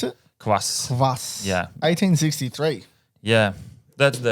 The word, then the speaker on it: kvass: How do you pronounce it? Kvass.